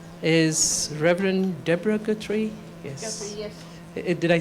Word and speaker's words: Guthrie: Guthrie, yes.